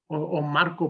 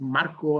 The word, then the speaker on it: Marco: Maybe they haven't seen that kind of character, or Marco pronounced Marco, okay, in a very different way. And people say, well, why do you say it like that?